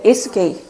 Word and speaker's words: 예수게이: 근데 발음할 때 조심하셔야 됩니다. 붙여서 발음하셔야 돼요. 떨어져서 발음을 하시면 기독교인들한테 오해를 받을 수가 있습니다. 따라해보세요. 예수게이.